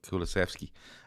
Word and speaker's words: Kulusevski: have and what he brought in Bentancur and Kulusevski. And I might be saying that name. I completely get that name wrong.